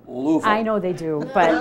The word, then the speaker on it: Louisville: 2 and a half they they pronounced that Louisville I know they do